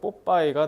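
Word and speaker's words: Popeye: 그래서 pop eye. 저거 pop eye를 그래서 일본식 발음하면 뽀빠이가 되는 겁니다.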